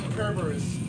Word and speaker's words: Kerberos: Oh, also, the actual pronunciation should be Kerberos. Oh, it's Kerberos?